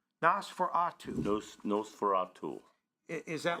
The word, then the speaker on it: Nosferatu: It's pronounced Nosferatu. Nosferatu.